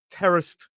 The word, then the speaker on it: terraced: pieces of vocabulary today: terraced and terrace. Both of these pronunciations is correct. Both of the spellings, we can spell it with a D or without a D.